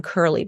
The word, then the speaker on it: Kurle: for the guidance Groove my name is Curley but it's k-u-r-l-e and so no one